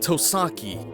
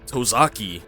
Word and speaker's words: Tosaki: The lead of this duo is named Tosaki, not to be mispronounced as Tosaki.